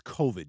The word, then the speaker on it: COVID: to get this stupid covered vaccine anyway peter it's covid you should know how to say it it's been well over